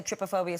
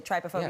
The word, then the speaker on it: trypophobia: Some people say trypophobia, some people say trypophobia, Yeah.